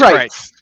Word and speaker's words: Crietz: It's Crietz.